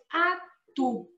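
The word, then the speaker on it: atout: Lembram que eu falei aí do OU? Ó, não tem erro, gente. Atu. Ok? E normalmente as consoantes finais a gente não pronuncia.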